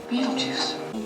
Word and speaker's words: Beetlejuice: Beetlejuice.